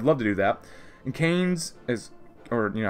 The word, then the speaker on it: Keynes: And Keynes is, or you know how to pronounce that, it's Kane with an S.